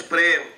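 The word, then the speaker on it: प्रेम: The word love in Sanskrit means prem. So prem actually is only 2.5 syllables. Pa, half syllable ra, and then ma.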